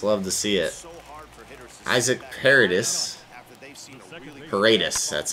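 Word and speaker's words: Paredes: 6 getting strikeouts love to see it isaac paradis that's how you pronounce it he's going to go up the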